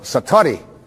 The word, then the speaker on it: satori: it's called excuse my Japanese but it's called Satori I'd love to say that sat s a